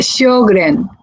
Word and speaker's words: Sjögren: La Sí, se uveitis pronuncia Sjögren, Sjögren.